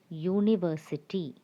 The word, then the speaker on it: university: It's actually U. Why? The word is starting with the sound Y. University. So that's why we use the article A. A university. It's not the vowel sound or the vowel U, but it's the consonant sound Y.